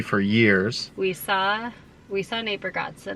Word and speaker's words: Bargatze: We saw Nate Bargatze, not Nate Bargatze. Ber- We've been saying his name wrong for Bargatze.